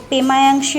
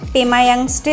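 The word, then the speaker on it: Pemayangtse: বর্তমানে রয়েছে সেটা হচ্ছে পেমায়াংশী মনস্ট্রি বা অনেকে পেমায়াংস্টে মনস্ট্রিও বলেন ওদের উচ্চারণ আর আমাদের উচ্চারণ কিছুটা তফাত রয়েই যায় আর কি এই মনস্ট্রিটা কিন্তু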